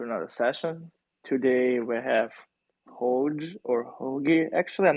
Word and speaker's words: HOGE: Sam, while we're waiting for people to get in, what's the proper pronunciation? HOGE. You had HOGE, it right the right? first time.